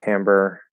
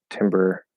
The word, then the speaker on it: timbre: then you also say no it's definitely timbre there's a scene about how it's pronounced on science seinfeld people mix it with timber a lot uh well if it